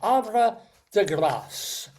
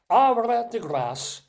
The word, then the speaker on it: Havre de Grace: Ara degass. And we do pronounce the S sound because it's grace like grace. Ara degass in Maryland which you